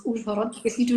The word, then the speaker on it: Uzhhorod: Well, I grew up in a small village not far from Uzhhorod, and that's pretty funny to hear how you pronounce Uzhhorod, because you do not have a so here it's like Uz.